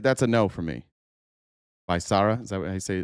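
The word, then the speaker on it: Becerra: Bisara.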